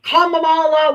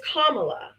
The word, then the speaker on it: Kamala: if they especially if they were my complexion, they're like Pamela, Kamala, whatever. You know, if I didn't correct them and say her name is Kamla, it's a it would